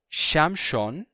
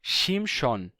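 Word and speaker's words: שמשון: a mesma a mesma coisa acontece com o nome Sansão que Originalmente era chamson mas passou a ser shimshon então no texto massorético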